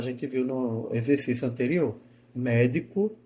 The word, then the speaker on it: médico: viu no exercício anterior médico e medico médico médico médico eu começo tá com ela alta e desço médico a escada vai descendo diferente de medico medico né eu tenho duas